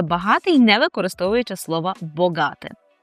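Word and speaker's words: bogaty: Тут зверніть увагу, що не ба, а богати. Богати.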